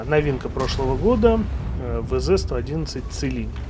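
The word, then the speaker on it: Qilin: И новинка прошлого года VZ-111 Целинь. Ребята, кто говорит Кулинь, говорит неправильно. Можете сами попробовать загуглить Целинь. Правильно произносится Целинь.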